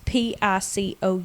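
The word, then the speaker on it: Picoult: wrote My Sister's Keeper oh okay yeah it's p i c o u l t but on her Tik Tok she pronounces it Pico um so mine uh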